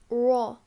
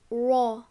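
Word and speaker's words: رَ: it is pronounced light so this is pronounced as as raw but it cannot be pronounced as ra again it is pronounced as raw length of fat sounds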